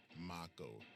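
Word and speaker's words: Mako: we out um what actually it's pronounced moo reactor moo are you sure I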